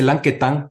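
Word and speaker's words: Lanquetin: como la droguería Lanquetán, que se escribe Lanquetín, pero se dice Lanquetán porque don Julio Lanquetán, que fue el que primero la formó, era un señor francés que vivía en Guatemala.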